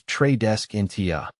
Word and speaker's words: Tradescantia: The pronunciation of Tradescantia is Tradescantia.